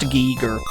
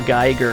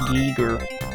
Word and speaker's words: Giger: I assume it's pronounced Giger. And I've been saying it wrong my whole life. I've always been saying H.R. Geiger, because that's how it looks to me. But I think it's pronounced Giger.